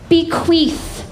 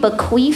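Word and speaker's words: bequeath: You say bequath with a th at the end. Bequeef, y'all. I've been saying bequaf for years.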